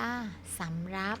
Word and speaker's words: สำหรับ: อ่าน ว่า สาลี่ เหมาะ สำหรับ อ่าน ว่า สำรับ มี สิ่ง อ่าน ว่า